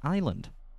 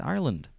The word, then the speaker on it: Ireland: Island exactly she says Island I'm not that's not how you say it's Ireland there's a it's ire at the start if I can do